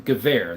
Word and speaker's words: Gewehr: Gewehr, there we go. That's how you pronounce it.